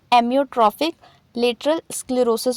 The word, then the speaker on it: एमियोट्रोफिक लेटरल स्क्लेरोसिस: इससे पहले मैंने इसका प्रोनाउंसिएशन गलत बोल दिया था, तो इस टाइम आप करेक्ट कर लीजिएगा। इसे हम एमियोट्रोफिक लेटरल स्क्लेरोसिस बोलते हैं।